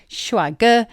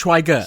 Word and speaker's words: 帅哥: Maybe it's just because I'm saying it wrong. I think it's shuage.